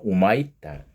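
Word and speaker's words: Humaitá: 브라질 여기는 이제 휴마이타 이야기했죠. 브라질 가서는 그 사람들 발음으로는 우마이타, 휴마이타 교도소를 천주교에서 근데 문제가 어떻게 됐나요?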